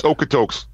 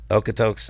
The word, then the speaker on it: Okotoks: How do you say? Is it Okotoks? Is that where you're from? It's Okotoks. Okotoks, Alberta, Canada.